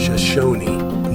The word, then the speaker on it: Shoshone: way we're in california the proper pronunciation is shoshone named for the local indigenous uh native americans it's pretty much those